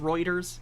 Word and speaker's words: Reuters: So this guy, I don't know if he seems like he's genuinely, it's pronounced Reuters, sorry.